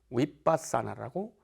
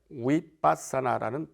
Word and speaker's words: 위빠사나: 우리 한국어로는 관법이라고 할 수 있고 인도 원어로는 위빠사나라고 이렇게 합니다 위빠사나라는 발음인데요 일반적 영어 알파벳으로 이야기를 한다면 VI ba